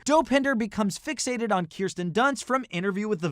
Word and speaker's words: Kirsten: gun and later dope hinder becomes fixated on kirsten dunst from interview with the vampire yes it's pronounced kirsten you know who else was in an interview